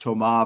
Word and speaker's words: Toma: We learned his name is pronounced Toma, but from Luke on Tuesday.